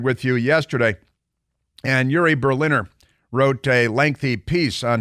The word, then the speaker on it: Berliner: People keep pronouncing his name in 9 different ways, Berliner. It's Berliner. It couldn't be more obvious.